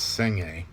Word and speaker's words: Senge: discipline by uh peter seng it's pronounced it's it's spelled s-e-n-g-e but it's pronounced seng-a he talks about learning